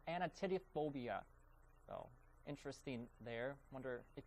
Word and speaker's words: anatidophobia: The correct answer is A, of course, and it's pronounced anatidophobia.